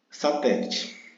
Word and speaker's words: satélite: Observe que te, essa sílaba te, ela é a sílaba tônica, ou seja, aquela sílaba mais forte, que eu já ensinei como é que faz para a gente saber qual é a sílaba tônica de uma palavra. Como ela é a sílaba mais forte e ela está na posição proparoxítona, ou seja, é a antepenúltima, então por isso que ela é acentuada.